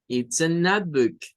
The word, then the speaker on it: notebook: es el sonido o la e no hace ningún sonido y esa o se pronuncia como Notebook sería un cuaderno le